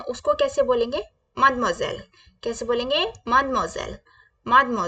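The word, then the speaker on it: mademoiselle: को जो मैरिड नहीं है उसको कैसे बोलेंगे मदम जल कैसे बोलेंगे मदम जल मदम जल प्लीज रिपीट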